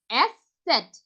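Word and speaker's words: ß: একত্রে এভাবে পড়বো আ উস সেট এটা হচ্ছে এস সেট এটা হচ্ছে বিটা কোয়ালিটির বি এর মত আপনারা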